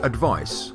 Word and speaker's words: advice: and advise the verb the noun advice has a c which is pronounced like an s and the verb advise